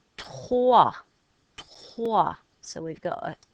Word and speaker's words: trois: Trois, silent s.